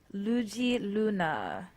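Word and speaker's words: Luedji Luna: this afro-brazilian thing why don't you check out lugi luna um that's spelled l-u-e-d-j-i space l-u-n-a all right so there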